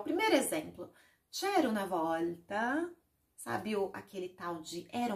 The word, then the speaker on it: volta: A próxima palavra é volta. Olha aqui, o L antes de outra consoante tem essa pronúncia aqui, ó. Volta. Coloque a linguinha atrás dos seus dentes frontais. L. E diga, ó, volta, volta, ok?